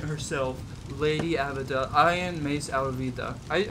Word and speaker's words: Alvida: iron maze alvida I I've been calling Avida and I know her name is alvida I'm I'm a one-piece fan I know this uh information but I've been saying her name wrong regardless because I've gone so